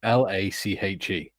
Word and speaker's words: Lache: There's a place not far from us, and it's spelled Lache. And most people pronounce it Lach.